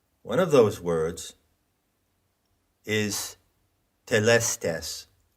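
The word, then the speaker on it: telestai: of those words is telestes now that is an anglicized pronunciation of the greek word that word is plural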